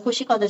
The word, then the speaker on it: 코시컨트: 자, 발음 코시컨트.